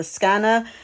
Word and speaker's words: skene: I'm hoping it's correct, in Greek they would have called it a skana, and in English we usually call it a skene.